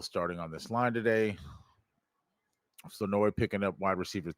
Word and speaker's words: Flournoy: Flournoy. You don't pronounce the R. The R is silent.